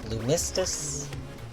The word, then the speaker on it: Lunistice: uh this this game this is um Lunas lunistus because the way to pronounce it ah the majority of the game